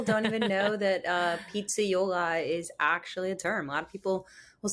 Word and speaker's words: pizzaiola: all about pizza right um You are a Pizzaiola I hope I pronounce it correctly yeah that's right A lot of people don't even know that uh Pizza Yola is actually a term a lot of people